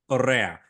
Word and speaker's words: Correa: It rhymes with I hate that guy. Correa.